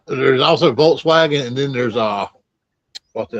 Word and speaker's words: Volkswagen: And they don't their W's they pronounce as V's.